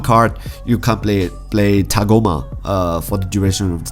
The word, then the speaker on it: Tagoma: Okay, so Tagoma, I need to make sure I spell this, I pronounce this correctly. Tagoma.